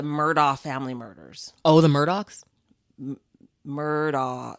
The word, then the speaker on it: Murdaugh: Oh, the Murdaughs? Murdaugh. They're spelled Murdaugh. They pronounce it Murdaugh, but it's Murdaugh. It's the dad who killed the son and the wife.